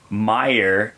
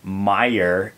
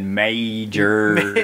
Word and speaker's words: Meijer: Meyer, pronounced Meyer, the one that you said major, whatever. What? Was this on the last episode? Yeah, it's M-E-I-J-E-R. Oh, yeah. It's like, Meyer.